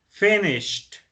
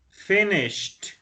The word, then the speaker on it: finished: okay the first one finish the pronunciation is finished finished so finishes with the T with the T sound we have then we